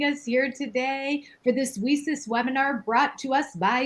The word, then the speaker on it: WiCyS: We often go by our acronym WiCyS, W-I-C-Y-S, and we pronounce it WiCyS, like we sisters, because that's exactly what we are.